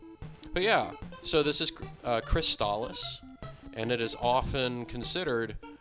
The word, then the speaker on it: Crystalis: is to be trusted, this game is pronounced Crystalis. It is not pronounced Crystalis, but I'm also not